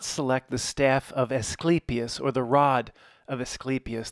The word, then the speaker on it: Asclepius: Like sleep, the way to remember it, and it's one of the hardest things to remember. I've had to refer to the pronunciation. Every time I've ever looked at this, I forget how to say it. I have to go back, and I've looked at it several times over the years. It's like the best way to remember. Sleepy, you're getting sleepy.